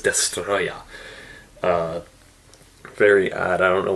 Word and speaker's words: Destoroyah: should translate to destroyer they just decided to leave it as a Japanese pronunciation destoroyah so his name is destroy yeah very odd I don't